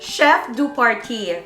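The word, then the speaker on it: chef de partie: south island to glenorchy hotel chef or paris pronounced chef do party so in glenorchy it's a small town for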